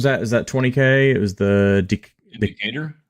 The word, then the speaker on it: Decatur: How'd you pronounce the place where it was at? Is that 20K? It was the Decatur. Decatur, yeah, the Decatur Deathmatch, CEDH.